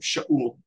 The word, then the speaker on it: Saul: When King Saul, as you pronounce it, Shaul, when King Saul became